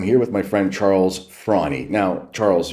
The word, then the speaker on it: Fraune: I'm here with my friend Charles Frawnie. Now, Charles, your last name is spelled F-R-A-U-N-E, and you pronounce it Frawnie, but it looks like frown.